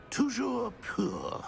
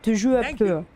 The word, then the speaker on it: Toujours pur: Toujours pur. Нормально он говорит. Toujours pur.